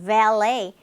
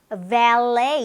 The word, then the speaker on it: valet: valet. 우리 발렛 서비스 하는 거 있죠? valet 이렇게 발음이 되고 있어요. T 발음 안 납니다.